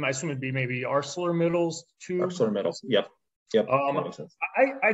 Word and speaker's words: ArcelorMittal: ArcelorMittal.